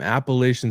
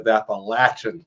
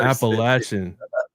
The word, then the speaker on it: Appalachian: The first thing I saw is that you graduated from Appalachian State University.